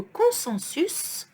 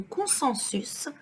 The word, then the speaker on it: consensus: Puis, le consensus, so here we pronounce the S, le consensus, né de la volonté d'unifier les traditions locales ou ijma.